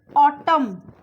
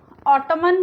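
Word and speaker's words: autumn: एन is silent after M. एन हमेशा after M, अगर एम के बाद एन आता है तो एन ऑलवेज साइलेंट होता है. देखिए जैसे यहाँ पे देखिए ऑटम, ऑटमन नहीं बोलते हम, यहाँ पे हम बोलते हैं ऑटम.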